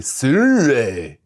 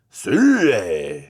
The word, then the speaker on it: Sirui: I know cuz Sur told me it's really Sur Sur I know it doesn't look like it but that's how it's pronounced now when it comes to autofocus especially